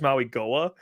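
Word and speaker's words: Mauigoa: Francis Maui Goa.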